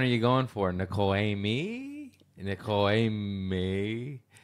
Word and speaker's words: Aimée: Nicole Aimée? Nicole Aimée. It's actually pronounced M-A. M-A. It's Nicole Aimée Schreiber, but I just say Amy because everybody can't figure it out.